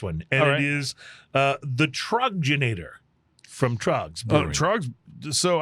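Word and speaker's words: Troegenator: So it's Troggenator. I was mispronouncing it. And I believe that's a Pennsylvania beer, isn't it? That's a very good question. I think it may be. Yeah. Troggenator, yes.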